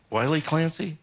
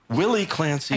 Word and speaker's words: Willie Clancy: Is that Wiley Clancy or Willie? Willie Clancy. I think he was also Wiley.